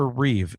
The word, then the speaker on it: Reeve: There is no S and Christopher Reev. The original George Reeves has an S.